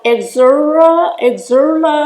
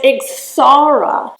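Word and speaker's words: Ixora: shrubs this is called Exuma let's see if I'm pronouncing that correctly it is is pronounced ixara and we have those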